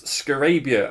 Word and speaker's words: Scarabya: And here it is, Scarabya. I'm assured that is how it's pronounced.